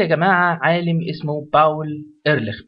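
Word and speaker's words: Ehrlich: في عندي يا جماعة عالم اسمه باول ايرلخ، باول ايرلخ بالعربي ايرلخ، في ناس بتقولها ايرلخ بالانجلش، يعني لو على حرف الخاء عندهم ما بيقولوش، فخلينا احنا نقوله هو الماني فبيتنطق كده باول ايرلخ.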